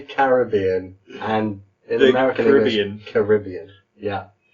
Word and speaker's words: Caribbean: Americas so bye-bye right it should be the American pronunciation and in fact we even have some big movies which have Americanized this word Caribbean oh I say the American oh sorry the Pirates of the Caribbean so I would say